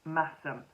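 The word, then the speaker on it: Masham: does she say about mashem pronounced massim thank you very much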